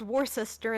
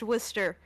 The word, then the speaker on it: Worcester: the way it's pronounced why is it spelled war sester and then pronounced Wier you know I could